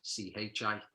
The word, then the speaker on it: Qi: So it's spelled Qi for Qigong, but it's like the Qi that you see, which is the same as Chi, Qi, as in Tai Chi and stuff like that.